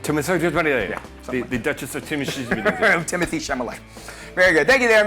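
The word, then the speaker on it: Timothée Chalamet: pronunciation I know it's kind of hard it's pronounced Timothy chamay Timothy The Duchess of Timothy Timothy chamay very good thank you there MD there should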